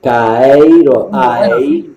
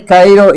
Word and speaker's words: Caeiro: ¿Cómo lo pronuncias tú? Caseiro. Alberto Caeiro. Sí, Rey Caeiro y Campos.